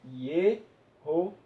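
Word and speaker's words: יהושע: Seguindo hoje tradições judaicas, o que se sabe hoje de falar esse nome, de se pronunciar esse nome, que é Josué, lemos assim, Yehoshua.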